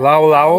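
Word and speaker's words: laulau: Lao lao, Lao lao lao.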